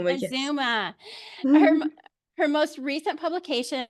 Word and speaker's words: Mazuma: Can you pronounce Mazuma? Is that how you pronounce it? Mazuma. Mazuma.